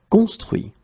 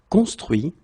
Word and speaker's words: construit: Okay, so remember final T not pronounced. Construire, construit. Cuire, cuit. So one more time. Conduire, conduit. Construire, construit.